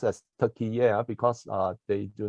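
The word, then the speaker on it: Türkiye: are dialogue Partners so right now turkey is pronounced as turkey air because uh they do not want the country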